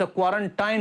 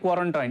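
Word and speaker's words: quarantine: हुन कैसे क्वारेंटाइन हु्छ क्वारेंटाइन हुन there are number of people who यूज़ to make the pronunciation like क्वारंटाइन इट्स नॉट क्वारंटाइन इट्स क्वारेंटाइन clear से अब I don't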